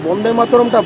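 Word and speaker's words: বন্দে মাতরম্: দেখুন বন্দে মাতারমের সবচেয়ে বড় অপমান সেদিন হয়ে গেল যেদিন বন্দে মাতারমটা বন্দে মাতারম ভি হয়ে গেল বি টা যেদিন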